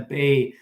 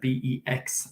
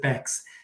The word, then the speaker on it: Bex: sorry she pronounces it bex sorry it's just in switzerland there's a town called bay and it's spelled b-e-x and it's pronounced bay so actually martina told me she pronounces her name bex so b-e-x so if